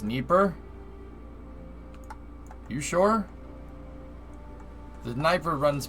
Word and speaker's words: Dnieper: It's pronounced Dnieper.